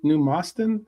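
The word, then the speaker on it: Moston: The man plays are a decent partnership for Moyes to have like No, I was asking where's uh New Mustin. Is that how you pronounce it?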